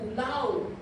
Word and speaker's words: Laos: And now o sabi ni Bishop Evelyn kahapon we will be going to law. Laos ang spelling pero law ang ang pronunciation.